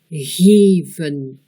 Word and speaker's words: geven: Prenons l'exemple d'un mot à deux syllabes, geven. Le premier E est un son long. Le deuxième est le E muet.